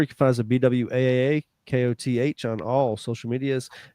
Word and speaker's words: Bwaaa: Yeah, if you want more, you can find us at BWAAA.